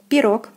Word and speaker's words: пирог: Next we have пирог, пирог, пирог. O is stressed and is pronounced as in the alphabet is O.